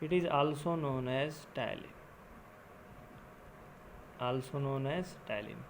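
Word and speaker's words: ptyalin: इट is also known as टाइलिन, also known as टाइलिन। पी यहाँ पे क्या होता है, साइलेंट होता है, ठीक है।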